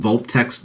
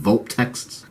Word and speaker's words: Vulptex: There's these crystal foxes called Vulptext, by the way, I think is how you pronounce it, Vulptexts, that have their fur that looks like a crystal-like material.